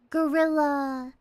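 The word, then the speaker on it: guerrilla: So, I'm uh I see the confusion since they're pretty much pronounced the same, but a gorilla stream is like an unplanned, unscheduled stream. It's not like gorilla like the the the monkey. It's gorilla like a gorilla mission, right?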